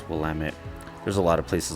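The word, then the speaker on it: Willamette: TT E I believe and it sounds like willit um willit River um that's what a lot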